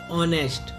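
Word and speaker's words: honest: लिखती स्पेलिंग क्या है? एच ओ एन ई एस टी, तो बोलते क्या है? ओ एन ई एस टी को से पढ़ते हैं, तो ये क्या होता है? साइलेंट।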